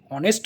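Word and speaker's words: honest: যেমন আমি যদি অনেস্ট বলি, তো অনেস্ট শব্দের আগে এইচ আছে কিন্তু এখানে অ্যান বসবে, অ্যান অনেস্ট বসবে। এর মানে হচ্ছে এর প্রোনাউন্সিয়েশনটা ভাইলের মতো হচ্ছে, মানে এইচটা সাইলেন্ট থেকে যাচ্ছে এবং ওর উচ্চারণটা আসছে, ওই জন্য আমরা অ্যান বসাচ্ছি।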